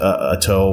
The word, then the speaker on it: Ato: But do you have like a personal preference, whether it's emphasis on the first, like for your first name, is it Ato, or I've heard people say it both ways for a long time now.